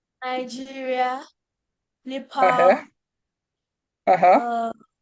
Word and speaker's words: Niger: It's Oh, actually pronounced Niger.